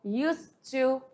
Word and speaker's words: used to: Lembrando que esse D aqui você não pronuncia, tá? Então, used to é como se fala, e na forma afirmativa